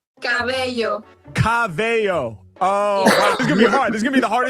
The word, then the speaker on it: cabello: Cabello. Cabello. Let me get one more. Pero es que corazón, hair, no se pronuncia corazón.